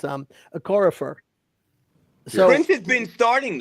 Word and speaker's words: Okorafor: Yeah, I want to call him Okafor because that was the played on UConn, but it's Okorafor.